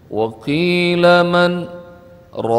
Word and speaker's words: وقيل من راق: Berhenti 2 ketukan tanpa ngelepas nafas. Jadi bacanya waqila man raq.